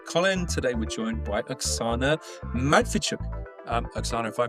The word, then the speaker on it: Oksana Matviichuk: Today we're joined by Axana Madfichuk. Um Axana, if I pronounced that correctly.